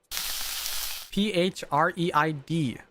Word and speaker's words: Phreid: Phreid. Pronounced like afraid not.